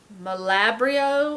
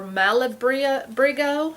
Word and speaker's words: Malabrigo: This is called Malabrio or Malabrigo. It's got a G in it. I don't think I pronounced it right, but this is the ticket.